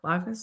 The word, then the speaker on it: Lagos: She ended up picking up, is it pronounced Lagos? Lagos? Yeah, Lagos.